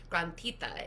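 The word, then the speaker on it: granthita: practice today is called grandita mudra I like teaching it because I like saying it grantita it's it's when you spell it it's g-r-a-n-t-h-i-t-a and what granthis are in yoga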